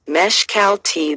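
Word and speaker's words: Mexcaltitán: governor earners the neyers the word mexical titan pronounced mesh cal tea then may have a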